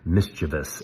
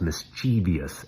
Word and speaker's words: mischievous: The author repeatedly mispronounced the word mischievous as mischievous, adding an I.